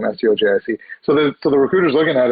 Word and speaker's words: Stojic: So they pronounce it Stojic, but I've also heard Stojic, from different people I met. And I just go by Stojic.